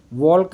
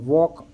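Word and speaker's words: walk: underline है और वॉक वॉक में एल वॉलक नहीं बोला हमने वॉक है ना तो एल बोला ही नहीं इसलिए एल अंडरलाइन है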